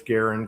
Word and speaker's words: Garand: Yeah, the the proper name is Garen because that was his name.